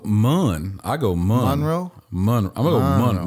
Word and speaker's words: Monroe: Monroe.